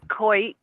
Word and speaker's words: Coit: Do you pronounce it Coit or Coit? I should have asked. It's Coit. Coit!